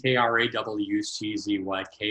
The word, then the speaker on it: Krawczyk: C-Z-Y-K is pronounced Czech as in checkbook, and now you speak Polish about as well as I do.